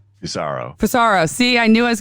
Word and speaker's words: Fusaro: episode and i have a good friend fusario i said it right right cesaro for sorrow see i knew i was going to screw